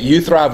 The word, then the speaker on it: uTHRiV: a few million times at you thrive we say it like this if you thrive I thrive and I